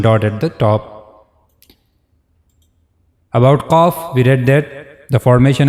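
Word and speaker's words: ق: And we also read that cough it is one of the bold letters. So while reading this letter cough we have to make a bold voice.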